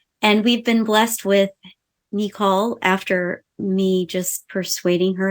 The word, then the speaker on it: Nicole: was because Nicole saw as most of you know her as Nicole, but in our family, she is Nicole. That's the way you say her name.